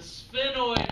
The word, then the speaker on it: sphenoid: the side and the sphenoid bone that one's a hard to pronounce sphenoid it's like saying sphere like a sphere a round object is a sphere a spinoid